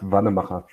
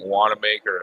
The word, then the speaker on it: Wanamacher: It's pronounced Wanamacher. That don't sound like Wanamaker at all. No, because the CH in the maker is.